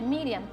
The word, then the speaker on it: Miriam: decía el pastor s su nombre original en el hebreo si por supuesto es la pronunciación lo que ustedes están viendo escrito allí en vista de que en hebreo pues se utilizan una serie de siglas que son este unos símbolos y los símbolos hebreos pero en su pronunciación es miriam en arameo se le dice marian baby y por